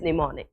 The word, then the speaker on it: mnemonic: word I think is mnemonic I really think it's demonic yes the money so we do not pronounce the M the first letter that one is silent and mnemonic clip simply